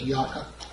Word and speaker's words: Yaakov: If you like the Hebrew pronunciation, it's Yaakov, and whichever one you choose to use, that's pretty much up to you.